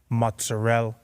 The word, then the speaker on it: mozzarella: Nothing makes me more mad than whenever they don't pronounce the vowel at the end. Prosciutto, mozzarella.